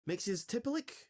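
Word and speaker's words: Mxyzptlk: Mixiospitalik, or as this original version is pronounced, Mixiospitalik, who is Mixie-tiplick.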